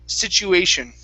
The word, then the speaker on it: situation: right above here so we have a t and a u okay so instead of saying situation it's a chew with a ch sound sich situation situation all right very good okay